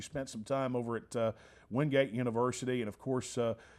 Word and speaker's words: Wingate: little uh humor here is it winget or wingate well to the locals it would be winged um and some of the old timers there but as far as the proper pronunciation nancy also announced asia that i think of it's easy for you yes would be wingate well you know i've